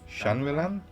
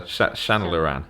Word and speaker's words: Shanlaran: Closer, Shanlaran. Shanlaran. Okay. It's spelt in a very fancy bullshit way. Not really. I mean, Shan's just an Irish name, and then it's just got Lauren on the end.